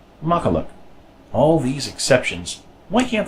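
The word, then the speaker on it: makkelijk: of an e sound this Li JK is pronounced much like the English word luck so this word is pronounced maka look maka look all these exceptions why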